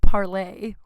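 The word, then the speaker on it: Parler: It's spelled parlor, but I'm told it's pronounced parlay.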